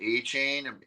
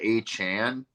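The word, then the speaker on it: Achane: announcers the first couple of weeks have been pronouncing it a chain apparently he wants it to be pronounced uh a Chan oh like 4chan Divine Devon a Chan Devon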